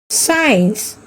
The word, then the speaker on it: science: Science, scent. Here also C is silent.